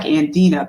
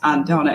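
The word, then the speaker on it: Andna: n d n a looks like andena but it's pronounced andona and I'm going back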